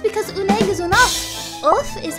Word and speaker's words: œuf: It's because un egg is un œuf.